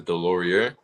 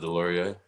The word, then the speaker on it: Delorier: years of my life, my mom has always pronounced my name as Delorier, so that's how I always thought it was. But it turns out it's pronounced Delorier. So I was saying it the right way the first time, as thought I was screwing it up.